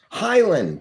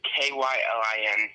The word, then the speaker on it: Kylin: how you doing Highland uh sorry it's k y l i n sorry people get my name mixed up kylin okay totally cool did I say it right that time yes excellent kyl I said